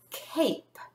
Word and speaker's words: cape: If I add a silent E to the end of this word, it changes this A to a long A. K, ape, cape.